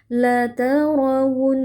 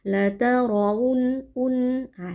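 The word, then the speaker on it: لَتَرَوُنَّ: La tarunnaah di sini wau ya. Hati-hati jangan sampai berubah menjadi hamzah. Ah, terkadang ada yang membaca la tarun un ah seperti hamzah. Jadi pastikan ini bunyi wnya sempurna.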